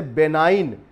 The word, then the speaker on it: benign: इस तरह से बेनाइन, BENIGN, विनम्र होने के लिए यूज़ किया जाता है, यहाँ पर जी साइलेंट है।